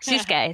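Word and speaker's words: Sōsuke: Yep, Susuke. So he pronounced him by he called him by his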